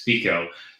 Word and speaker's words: Fico: FICO sorry I I I've listen the pronunciation it's I want to make it a long eye but it's FICO and Cotler the prime